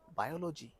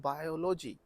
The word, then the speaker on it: biology: l o g y biology no you are breaking a wrong syllable here it's not biology it's biology biology psychology no it's psychology